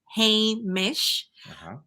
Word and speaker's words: Hamish: to say, and I can give you the pronunciation. It's Hamish. I said, well, it is the name of my real hedgehog. So I have a hedgehog, an African pygmy hedgehog named Hamish, and he's adorable.